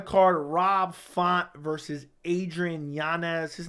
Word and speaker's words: Yanez: moving down the car Rob font versus Adrian Yanez his name is actually pronounced Yan yes but the UFC's calling me